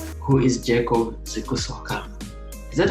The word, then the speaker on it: Zikusooka: Who is Jacob Zikusooka? Is that how you pronounce your last name?